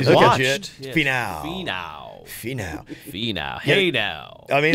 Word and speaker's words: Finau: I didn't even know how to pronounce it. Finau. Finau? Is that what it is? Finau.